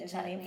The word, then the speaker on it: Chladni: It's kind of like the chladni for plate. The chlad. I always. I'm like, what do you say? Chladni plate. That's how you say it. Chladni plate.